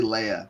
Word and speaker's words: Leah: young daughter Leia it's it's spelled Leah but they say Leia Leia I guess well